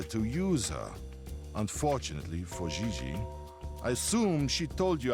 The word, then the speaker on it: JJ: Gigi. No, I mean JJ. Gigi. JJ. En français, you pronounce G like J and J like G.